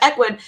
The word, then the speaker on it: Ecwid: we use is ecwid we were going back and forth on how to pronounce this they always make it so hard but ecwid so this is our